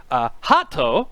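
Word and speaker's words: ハート: something belonging to me Hato which is the the Japanese katakana pronunciation for heart the English word heart ah yeah anata is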